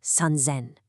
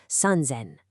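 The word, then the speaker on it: 三千: It's sunzzen. Listen to that auditory anchor. The s in zen completely changes to a buzzing z sound. Sunzen.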